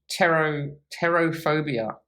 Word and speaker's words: pterophobia: I have pterophobia, which is spelled P-T-E-R-O phobia, I think, like pterodactyl.